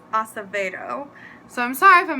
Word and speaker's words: Acevedo: I also realized that I think I've heard her last name pronounced Acevedo before, not Acevedo. I'm a New Yorker, so you know, we always have those weird words that we say, but I'm pretty sure it's Acevedo.